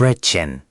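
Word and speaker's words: Brötchen: यह कुछ ऐसा है जैसे आप गोल होंठों के साथ एक लंबी "ई" ध्वनि का उच्चारण कर रहे हों। ब्रोटचेन. पुनः प्रयास करें। ब्रोटचेन.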